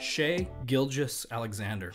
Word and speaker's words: Shai Gilgeous-Alexander: Shai Gilgeous-Alexander.